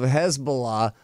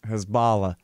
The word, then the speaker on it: Hezbollah: It seems like it should rhyme with Allah, right? Hezbollah is That would be one way of looking at it.